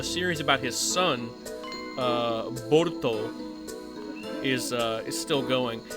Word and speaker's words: Boruto: But anyway, the Japanese pronunciation of Bolt is Borto or Borto, which when pronounced in English looks like Boruto, but it's Borto.